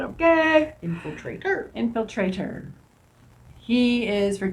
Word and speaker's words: Infiltrator: Infiltrator. Put the emphasis on the wrong spot, okay? Infiltrator.